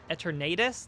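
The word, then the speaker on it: Eternatus: together the eternitis uh i pronounce it eternitis like tornados but eternitus uh we'll call it that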